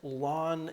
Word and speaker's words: ln: first function is this function and that is pronounced lon X that's how we pronounce it and that